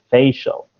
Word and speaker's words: facial: that was um yeah so you've got to emphasize the first part of the word a little bit more so facial facial spatial facial yeah